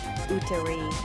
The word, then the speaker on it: úterý: Úterý, úterý. U as in moon and re like the first part of really. Notice how the accent on the U changes the sound.